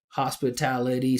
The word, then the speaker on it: hospitality: Right, hospitality, same thing, five syllables, so it's the secondary stress, it's not as important as tal, hospitality, but you can't make